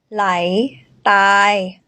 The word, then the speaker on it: ใหล: say that in tai lai lai lai a rising tone lie light here is